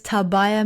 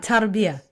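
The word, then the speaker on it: Tarbiyah: correct me um Indonesia's tabaya movement how should I say that so it does have an AR ah Taria Taria okay India Indonesia's Taria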